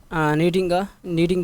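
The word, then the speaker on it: kneading: کیا ہے، شی از नीडिंग the floor. आपको पता है कि के बाद एन हो शुरू में तो के साइलेंट हो जाता है।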